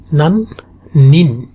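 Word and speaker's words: 何年: সো একটু carefully উচ্চারণ করা লাগবে, নান নেন। একটা হচ্ছে নেন, একটা হচ্ছে নিন। যদি নান নেন বলেন সেটা হচ্ছে কত বছর। নান নেন মানে কত বছর, আর নান নিন মানে কত পিপল।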